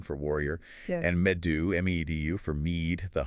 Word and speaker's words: medu: Or beorn B E O R N for warrior and medu me- du for me the honey wine they drank.